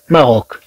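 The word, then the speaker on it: Maroc: طبعا غنشوف بأن السي في حالات أخرى أن تنطق ك ك، تنطق كحرف ك. مثلا كلمة ماروك، المغرب. مثلا كلمة ماروك، إذا طبعا هاد السي تنطق ككا في هاد الحالة.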